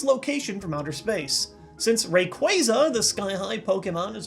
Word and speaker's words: Rayquaza: word like this before I know Q UA can often make the qua sound like in quadratic and quash hey that's actually a Pokémon attack let's go with Rayquaza Rayquaza okay so even though